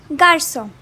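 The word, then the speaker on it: garçon: is pronounced as k cedilla is used to change the pronunciation of k to s for example garson and lastly the fifth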